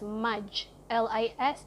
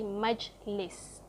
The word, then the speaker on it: Majlis: You just pronounce it exactly the way it's spelled. So M-A-J is Maj, L-I-S is lis. So it's literally Majlis.